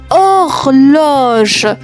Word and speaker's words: horloge: 27e mot, une horloge. Attention, il y a une lettre muette. L'horloge, une horloge.